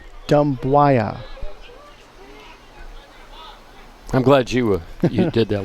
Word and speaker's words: Dumbuya: Last name spelled Dumbuya. And I'm pronouncing it Dembuaya.